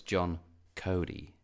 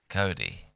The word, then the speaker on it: Coté: And John Coté, but like it says on his website that his name rhymes with Rhodey, so it's John Cody. Cody, okay.